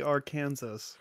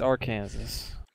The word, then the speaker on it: Arkansas: many people make fun of it because it's actually Arkansas. It's Arkansas. I'm sorry, Arkansas. Literally Your, Arkansas. your state's called fucking Arkansas. It's not your Kansas, Sorry. it's Arkansas. Arkansas.